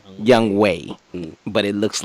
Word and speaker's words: Younghoe: week, we need to explain that his name is spelled Younghoe, but it's pronounced Young Wei, but it looks like Young Ho.